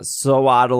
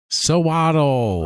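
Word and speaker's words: Sewaddle: it sews yes exactly i think i put too much evidence of f emphasis on the sew part so it doesn't sound natural you put the emphasis on the wrong syllable and then genesect will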